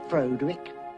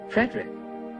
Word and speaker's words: Frederick: Do you also say Frodwick? No, Frederick. Well, why isn't it Frodwick Frankenstein? It isn't, it's Frederick Frankenstein.